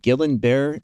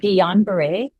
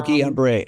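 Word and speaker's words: Guillain-Barré: So, is it Gillan Bear syndrome? Is that how you say it? Yeah, it's something called Gon Beret. Oh, Gon Beret.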